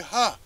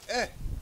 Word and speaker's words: ה: How do y'all pronounce he go? They say ha. Ha. Right? So now we already saying something is wrong. It should be eh.